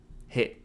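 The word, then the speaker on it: へ: four is four strokes is pronounced like hey in help or Helen do you know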